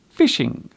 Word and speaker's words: phishing: This word is indeed pronounced as fishing, but as you can see, it is spelt with a PH at the beginning.